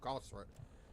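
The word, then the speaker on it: Gauss: have the G rifle gos I have the gun G rifle Goss rifle both are correct it literally just depends on who's saying it that pronouncing it that's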